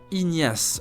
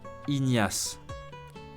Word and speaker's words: Ignace: First, Ignace, a French man's name. Listen again and pronounce it 3 times. Ignace, Ignace, Ignace.